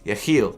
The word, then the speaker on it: Yecheil: of this shoe is a heel and the reason it's pronounced that way is because the name of the shoe is actually a Hebrew word that means may God